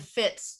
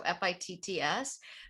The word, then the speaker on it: Fitts: My name is spelled, one R, and Fitts, like your shoe fits with two T's. So Fitts.